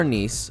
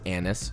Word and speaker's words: anise: thick with three C's five star anis I refuse to pronounce it anise sorry for black cardamom